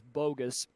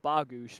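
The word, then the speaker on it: Bogusz: everybody pronounced it as bogus if you're pol if it it's a polish last name so it's supposed to be pronounced bagoosh but everybody calls it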